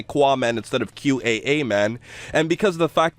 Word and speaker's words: Qaaman: It was supposed to be QAA Man. That's how I originally envisioned the word. It was never supposed to be pronounced like Qua or Qua Man.